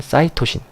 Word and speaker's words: 사이토신: A는 아데닌이라는 염기, T는 티민, G는 구아닌, C는 사이토신, 또는 시토신이라고 읽기도 하는데 요새는 사이토신은 대부분 더 많이 읽습니다.